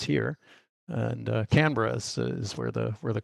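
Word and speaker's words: Canberra: name it it's you would say it can canbera but the Australians pronounce it canra it's not Sydney's not the capital incidentally it's it's it's here and canra is where the where the college is so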